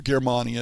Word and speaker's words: Germania: publication in early 2015 is Germania or Germania is probably the proper pronunciation it's a game of